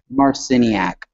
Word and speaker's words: Marciniak: Um, Barbara, how do you pronounce her last name? Marciniak. Marciniak.